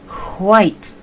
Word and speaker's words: white: no no no no you say the h first and then the w so it's not height it's white so i'm so glad